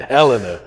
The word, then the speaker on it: Helena: talked to freddie now i know how to pronounce it helena hell in the arkansas yeah real time yeah